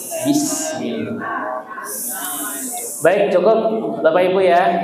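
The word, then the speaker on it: بسم الله: tiga dengan sin ya ada yang bismillah bismillah ya membaca jadi yang betul bis ada desisnya bis ya ada sinnya bismillah Baik, cukup Bapak Ibu ya.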